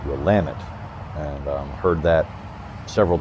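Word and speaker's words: Willamette: is and of course everyone thinks it's the Willet River but of course the locals pronounce it ramit and um heard that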